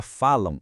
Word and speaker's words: falam: Quando a gente pronuncia falam, o som que sai no final é a1. São dois sons vocálicos, uma vogal e uma semivogal. Isso é um ditongo nasal.